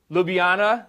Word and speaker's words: Ljubljana: Ljubljana, Slovenia.